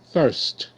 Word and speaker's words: thirst: okay the dog is taking a bath good thirst th thirst thir thirst okay see the